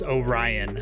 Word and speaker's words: Orion: My name is Orion, like the constellation, but nobody seems to be able to pronounce my name by reading it.